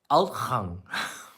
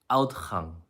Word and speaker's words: uitgang: But it's pronounced outgang. Outgang. And you would never think that's how it is pronounced. When you hear it, it's like out.